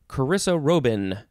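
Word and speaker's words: chrysarobin: chrysanthemum next we have carissa robin it's just karissa and then the word robin but you sell it you pronounce it robin noun from 1887 a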